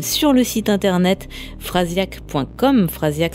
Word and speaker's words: Frasiak: Phrasiac, ça s'écrit Frasiak.